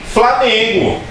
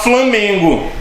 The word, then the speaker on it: Flamengo: Esse an não está na mesma sílaba, e é por isso que muita gente erra a pronúncia, fala Flamengo. Não é Flamengo, é Flamengo.